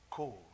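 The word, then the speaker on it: קול: is the Hebrew word kol. c'est mot hébreu qui relait, appelé Q-O-L. K-U-L. Q-Q. For queen. Q. Yeah. How do you pronounce Q? Q. Q. Q-O-L. Q-O-L. Kol. Q. It's pronounced K-O-L-E.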